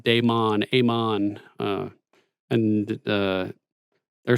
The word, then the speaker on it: Daemon: so the people in the show will say damon but uh in the books it's pronounced daemon amon uh and there are some websites that